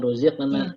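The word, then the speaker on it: رزقنا: tapi ruziqa, ya, ruziqana, ya, ruziqana, ya. Jadi dia tebal, ruziqana, ya. Jadi bukan ruziq, bukan ruziqana, tapi ruziqana, ya.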